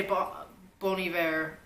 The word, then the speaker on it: Bon Iver: That is, well, you're supposed to say Bon Iver, but I'd say Bon Iver.